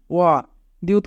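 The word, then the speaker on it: 어디: Young প্রথমে থাকলে young এর উচ্চারণ হয় না, ওয়া দিউত মাঝে থাকলে দ ই রাসছি ওয়াদি, ওয়াদি মানে কোথায়।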